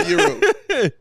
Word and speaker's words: gyro: Joe, you say gyro, euro. No, I'm Greek, so I say euro. You say euro?